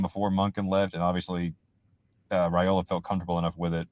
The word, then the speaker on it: Raiola: Bobo was involved in this thing for a while, even before Monken left, and obviously Raiola felt comfortable enough with it after Monken left to be like, yeah, I want to go play for Mike Bobo for sure.